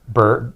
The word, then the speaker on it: Berg: But it's Berg. It sounds like B-U-R-G.